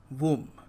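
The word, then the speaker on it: womb: नहीं B silent है। और हम इसको बोलेंगे वूम।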